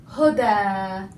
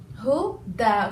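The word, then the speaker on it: هدى: So we spell it as huda. Huda. Okay, that's a fatha. So huda, as if it's alif, as if it's a long alif.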